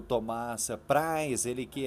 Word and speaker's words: Preis: O pessoal fala Preis aqui em Coronel Vivida, mas é Prais, né?